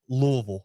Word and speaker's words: Louisville: success they haven't had it's pronounced louisville okay gotcha it's gotta get stuck in the back of your throat a little bit yeah